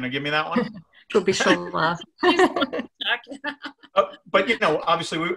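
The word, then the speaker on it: Kubišová: The wrong syllable I'm emphasizing, right? Kubitsova. Alena, are you going to give me that one? Kubitsova.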